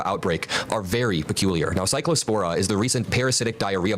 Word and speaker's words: Cyclospora: This has ties to the fucking raw milk cyclosporia outbreak or whatever. Very, very weird. We do Cyclospora is how you say it.